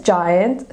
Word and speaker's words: giant: So, why is giant spelled with a G and not a J, even though it has a J sound? Giant. Well, that is because the letter G makes the J sound when it's followed by an E, I, or Y.